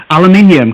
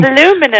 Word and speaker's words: aluminium: I obviously stumbled over aluminium because you guys you know pronounced it wrong Lumin um no it's got an ey in it people and you the words